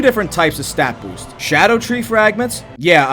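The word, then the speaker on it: Scadutree: types of stat boost Shadow tree fragments yeah apparently it's pronounced Shadow tree there's some old English involved how anyone is supposed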